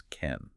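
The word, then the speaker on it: མཁན: But Tibetan handles this using a particle spelled k h e n, which we pronounce ken.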